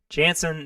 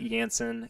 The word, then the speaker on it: Janson: you do and my last name is pronounced Janssen not you gansan yes I know but